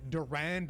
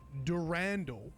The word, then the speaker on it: Durandal: Anyway, nice feedback about how I said Durand in the last video, and this ended up being a massive rabbit hole that I spent like over an hour talking about on stream. Actually, Bungie themselves pronounce it Durandal in their Marathon Forge tutorial video.